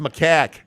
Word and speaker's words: macaque: It's pronounced macaque. Exactly how the soundbite is.